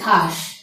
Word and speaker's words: ঘাস: এরপরে রয়েছে ঘাস। এখানে ব্যবহার হয়েছে দন্ত স, কিন্তু উচ্চারণটি হচ্ছে তালব্য স।